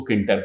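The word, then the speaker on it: Tkinter: तक इंटरव्यू बोलते हैं बट प्रोनाउंस हम उसको किनटक करते हैं जो इंटर लाइब्रेरी है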